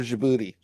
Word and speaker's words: Djibouti: D is for Djibouti.